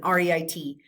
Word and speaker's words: REIT: investment trust this is commonly treated as an Reit that's how they say it but if it's a